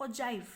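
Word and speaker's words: ogive: With the help of ओजाइव। कई जने इसे ओजाइव बोलते हैं, कई जने इसे ओगिव बोलते हैं, ठीक है।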